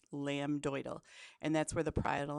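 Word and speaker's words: lambdoid: to pronounce in class lamb doal okay so there is a b and a d lamb doal and that's where the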